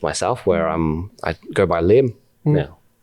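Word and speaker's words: Liem: And then one of our Vietnamese friends from colleagues, we asked him, he's like, hey, Danny, how do you pronounce this in Vietnamese? L-I-E-M. He's like, Lim.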